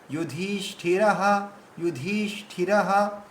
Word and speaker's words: युधिष्ठिरः: ঠিক আছে, তো কুন্তি পুত্র, তারপরে যুধিষ, যুধিষ, এই যে ধীষ এটা হচ্ছে দীর্ঘ, যুধিষ্ঠিরঃ, যুধিষ্ঠিরঃ।